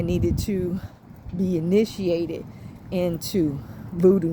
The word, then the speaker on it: voodoo: Now, just in case I said it wrong, the Baba told me I needed to be initiated into voodoo, not Bodon.